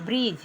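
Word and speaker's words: bridge: बी आर आई डी जी ई यहां जी से पहले डी आ गया तो डी नहीं उच्चारण करेंगे ब्रिज बोलेंगे ब्रिज ब्रिज मींस पूल उसी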